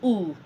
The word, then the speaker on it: où: They are still pronounced ooh.